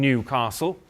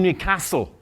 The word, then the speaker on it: Newcastle: I'm not from Newcastle. That's how they say it wrongly in the south. I'm from Newcastle. And that's how you say it.